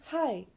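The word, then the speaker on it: hej: to say hello in Danish we will say hi for hello H EJ hi for hello do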